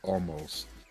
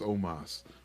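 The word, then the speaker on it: Omos: I'm almost um um I always say it wrong ever since I heard somebody call Omas almost because every single time I do it I'm like God damn it I know his name's Omas but I almost call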